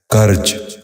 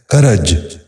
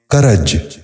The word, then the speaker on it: کرج: غور سے سنیے، کسوف۔ آٹھواں لفظ ہے کرج۔ یہ غلط تلفظ ہے، درست تلفظ ہے کرج۔ دوبارہ سنیے، کرج۔ بچوں آپ بھی غور سے سنیے، کرج۔ نواں لفظ ہے کفارہ۔